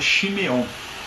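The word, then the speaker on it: שמעון: simão né na verdade na língua dele que é o aramaico se pronunciava shimeon né mas quando né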